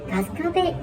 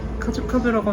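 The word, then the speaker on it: 春日部: 계속 못 알았다니까 아 가스카베 이러는 거야 카즈 카베 카즈 카페라고 하면 안 되구나 가스카베 이런 식으로 발음을 해야 되는구나 하는 그런 오픈 에피소드가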